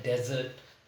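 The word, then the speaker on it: desert: spelling एक जैसी है लेकिन प्रोनंसिएशन अलग है ऊपर वाला है डेजर्ट और नीचे वाला है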